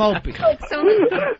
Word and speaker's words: Opie: Why is it so difficult to say the name Opie? O-P-I-E. How simple can that be? I said Opie Anthony. Opie. Even the first two letters say his name.